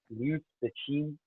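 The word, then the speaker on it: 刘慈欣: Liu Cixin. I got one of my Chinese colleagues to help me with the pronunciation there.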